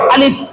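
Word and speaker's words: ألف: দুই ঠোঁট কিন্তু মিলানো যাবে না। দুই ঠোঁট যদি মিলিয়ে ফেলেন তাহলে বাতাসও বের হবে না, আলিফের উচ্চারণও হবে না।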